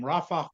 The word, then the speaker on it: Rafah: There are 4 more in the city of Rafiah, commonly referred to by the Arabic name Rafah, but Rafiah is the Hebrew pronunciation, and 2 more battalions